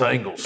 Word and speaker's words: Ingles: It's spelled like Ingles, but it's Angles.